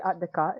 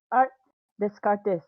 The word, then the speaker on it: Art Descartes: So the way that okay, to pronounce the name, it's actually Art Descartes. It's French, but if you want to pronounce it, I guess the Spanish way, if I'm not wrong, the Spanish way, then Art Descartes is correct as well.